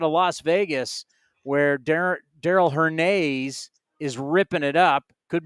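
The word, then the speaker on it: Hernaiz: all these Daryl her her Nays by the way we've been pronouncing it wrong and I remember seeing a video when he was in double A Midland it was her Nays not her knives and even though I've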